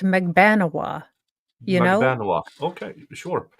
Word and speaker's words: Magbanua: Playboy thing yeah yeah and her name is pronounced magbanua you know Maga okay sure okay sounds good